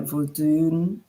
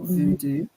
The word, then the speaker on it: Vodun: So that would be like Vodun in Haiti. It's not voodoo. That's incorrect.